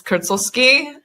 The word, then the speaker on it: Krcoski: And Krcoski is the name, but it's not spelled like that. It looks very different. Yeah. I'm Macedonian. It's Krcoski. So see, that's like that fancy, cool thing.